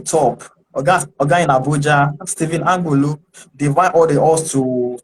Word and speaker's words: Angbulu: Stephen Angulu. I hope I pronounced that correctly. Yes, yes, you pronounced it correctly. Stephen It's Ambulu.